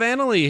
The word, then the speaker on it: Anneli: Try to pronounce it with a British A. Well, the way I've kind of got it down is I have to kind of like bring it out like Ellie.